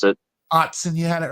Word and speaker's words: Autzen: $36 to get tickets at Autzen, however they pronounce it. Autzen, you had it right.